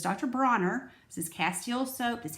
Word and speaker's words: Dr. Bronner's: I want to pronounce his name right. I think I called him Dr. Bonner's when I made my video on the bathroom. So it's Dr. Bronner.